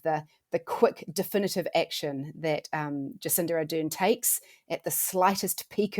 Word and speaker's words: Jacinda Ardern: an exemplary way, and that your Prime Minister, Jacinda Ardern, is that how you pronounce it?